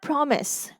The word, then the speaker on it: promise: But in the word promise, the vowel I is not saying its long sound. It is saying the short sound E, pro, me, E, S.